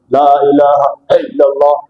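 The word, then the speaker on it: لا إله إلا الله: বলে দিব যে ভাই আল্লাহ নামের শুরুতে আইনা হামজা আর হামজার উচ্চারণ হয় সহজ হালকাভাবে লা ইলাহা ইল্লাল্লাহ লা ইলাহা ইল্লাল্লাহ আল্লাহ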